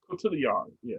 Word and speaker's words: Cotillard: And before I get to it tells a story, it stars Adam Driver and Marion Cotillard. I think that's how you pronounce her name. Am I correct? Cotillard, yeah.